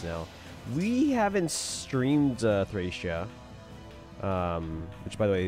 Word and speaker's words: Thracia: 10 25 streams now we haven't streamed uh thracia um which by the way is the correct way to pronounce it in the localized form uh so